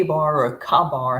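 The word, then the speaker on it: Ka-Bar: K bar or a Ka bar how is that how you say it K Bar we say K Bar K Bar yeah if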